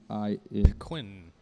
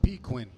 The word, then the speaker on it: pequin: Pequin. So pequin instead of penguin.